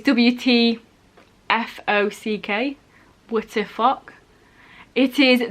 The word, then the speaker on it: WTFOCK: I think you'd probably pronounce it what the fuck, but it's WTFOCK.